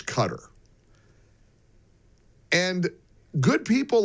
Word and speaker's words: Qatar: Evidently, the correct and proper pronunciation forQatar isQatar. Q U A whatever it is, T E R. It's cutter.